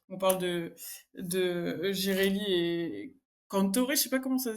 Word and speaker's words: Cantore: On parle de Girelli et Cantore, je sais pas comment ça se dit?